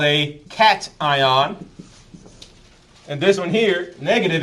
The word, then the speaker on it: cation: It's called a cation. And this one here, negative, is called an anion. My Hispanics love to call them cations, which I understand, but that's not the way you pronounce the word.